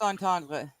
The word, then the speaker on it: entendre: Double gross entendre.